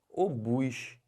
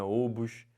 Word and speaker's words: obus: que fala isso aqui o bus não é ovos não é OBS é obus e o que quer